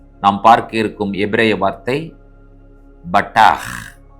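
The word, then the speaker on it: בָּטַח: தினம் ஒரு எபிரேய வார்த்தை இன்றைக்கு நாம் பார்க்க இருக்கும் எபிரேய வார்த்தை பட்டா பேத் டேத் ஹேத் இந்த மூன்று எழுத்தும் பட்டா என்று உச்சரிக்கப்பட வேண்டும் இதை உயிரெழுத்துக்களோடு இணைத்து சொல்ல வேண்டும் என்று சொன்னால் பேத் காமெட்ஸ் டேத் பெட்டா ஹேத பட்டா என்பதாகும் பட்டா என்ற எபரே வார்த்தையினுடைய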